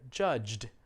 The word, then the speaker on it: judged: one here judged yeah this word ends with a j sound i know it's spelled with a g just like jogged english is crazy with the spelling the last sound in judge is j so let's try present tense everybody say judge past tense judged it's almost a t sound but it's not really yeah so at any rate